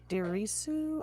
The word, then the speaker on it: Dirisu: Sope Dirisu. I'm butchering this name. I'm so No, sorry. you're right. Dirisu.